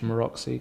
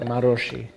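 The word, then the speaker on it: Maróczy: to pronounce anything um what language is that Hungarian Hungarian I would say maroxy yeah everyone has its own way I think it's like marosi marosi yeah guys let us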